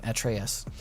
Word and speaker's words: Atreus: at trios at trius atreus i think that's how it's said in the game atreus is is the name yeah okay thank you